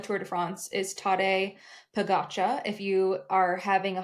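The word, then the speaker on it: Pogačar: If you are having a hard time pronouncing his name, you can also say Tadej Fakasha. Like today, the day is today, and the bread I like the most is Fakasha. So Tadej Pogacar has absolutely dominated this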